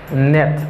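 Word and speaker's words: knit: Net. Mba gen knet. Knet. La, nan mob nan la, let kasa, li menm li pa prononce. Mba gen knet. But, mjus gen net. Net.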